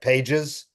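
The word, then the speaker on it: Pagés: spelled like pages, but it's Pages.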